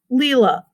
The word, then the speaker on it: Leela: it's divided in syllables lee you can hear the long e you can hear that a that's kind of what we call a schwa it doesn't really sound like a or a so i have a schwa at the end of my name that's two syllables it's not the sounds